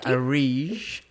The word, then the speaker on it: Areej: So how do you pronounce it again? Areej. Areej. So welcome to the next episode of The Promising Creative, and I'm here with Areej.